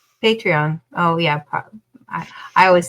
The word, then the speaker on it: Patreon: Like I just don't know if it's pronounced differently, because you kept saying Patron. Patreon.